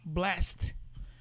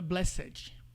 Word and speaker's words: blessed: Aí coloca lá blessed. Não é blessed, é blessed.